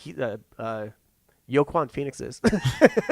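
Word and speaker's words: Joaquin: joker is that uh in like uh uh yokwan phoenix's pronounce it that way yo kwon yeah um but it's like he's arthur fleck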